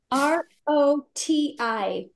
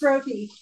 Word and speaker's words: roti: R-O-T-I. My sister would know. It's roti.